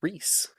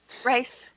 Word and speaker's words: Reese: we hi Flora hi rice you call me rice that's how you pronounce it no no it's Reese like Reese is peanut butter cups oh those are good